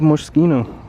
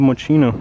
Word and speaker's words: Moschino: Oh, it's Love Moschino, or Love Moschino, however you want to pronounce it.